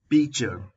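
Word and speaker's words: pitcher: चिमटी, पिंसर्स, पिंसर्स, मटकी, पीचर, पीचर, T silent है यहां पर, थाली, प्लेट, प्लेट, चरोता,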